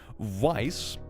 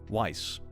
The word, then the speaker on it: Weiss: Weiss rhymes with rice or nice. Did I actually get it right? Weiss.